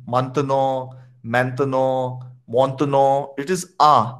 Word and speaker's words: maintenant: Okay, I'm not going to search for it, but can you guys pronounce this? Maintenant. Maintenant. Khalid? Maintenant. Maintenant. Montenegro.